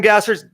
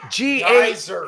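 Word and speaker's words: Gajser: Are you listening up Tim Gasser's G-A? Geyser. It's spelled G-A-J-S-E-R.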